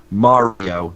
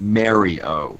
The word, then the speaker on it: Mario: me out on this and you're right it's pronounced Mario not Mario so good feedback and I'm I'm gonna work